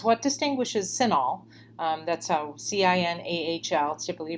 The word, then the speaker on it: CINAHL: the question was what distinguishes cinahl that's a c-i-n-a-h-l typically pronounced cinahl so what distinguishes that from other